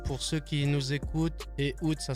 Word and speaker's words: Ehoud: Ehud, dis-moi, où est-ce qu'on peut te retrouver sur tes réseaux?